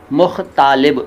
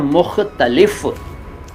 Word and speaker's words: मुख्तलिफ: सर मुख्तालिब, भाई मुख्तालिब नहीं होता, वो होता है मुख्तलिफ।